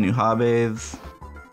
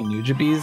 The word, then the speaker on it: Nujabes: It's actually Nujabes, and I think that sounds a lot less cool.